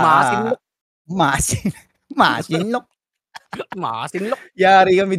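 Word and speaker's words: Masinloc: kami ah nito Yung masinlok ah malapit-lapit ah China sii oh mali pronunciation mo oh ah masinlok masin masinlok masinlok yari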